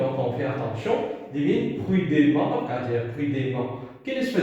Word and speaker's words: prudemment: Mais est-ce qu'il nous dit prudemment ou ça prudemment? Il nous dit prudemment. Vous trouvez, dans E, mais c'est moi qui prononce A.